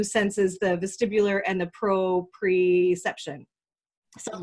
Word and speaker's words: proprioception: What is the right? It's proprioception. Yeah, I had one last I think syllable in there.